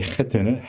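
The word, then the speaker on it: חית: 둘 다 목에서 나는 소리이긴 하지만 이 해트는 해트, 목 깊은 데서 나는 해트고 우리 음가로는 사실 히읗 발음으로 하지만 사실 정확히 표현은 안 됩니다.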